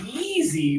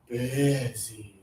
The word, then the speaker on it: busy: A lot of students say easy, but this is actually lower tongue extra air. Busy.